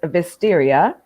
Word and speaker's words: Vestiaire: Well, I was going to say, I did hear it pronounced. I think it is Vestiaire.